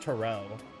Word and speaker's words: tarot: they're pronounced I believe it's pronounced Terrell with the emphasis on the o sure thing anyway getting